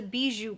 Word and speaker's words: Bijoux: it's pronounced that way has an x at the end but i think it's in french i did a pronunciation search and it said don't say the x so us americans would